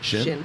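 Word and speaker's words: Chene: I do have a funny story about Shin Shin waiters and boot sizes. Is that how you say that? Shin.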